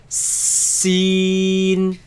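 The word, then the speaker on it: سين: behind the bottom teeth it has a yeah in the middle so just like that yeah hear the a long sound seen see seen seen seen seen and you the N noon sound seen seen so it's a sharp as soon seen seen Dan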